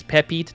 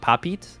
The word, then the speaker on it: Pepite: It's Pepite, not Papit.